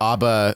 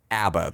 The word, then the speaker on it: ABBA: Tim Rice pronounces it ABBA, though. Yeah, Tim Rice is fucking wrong all the time.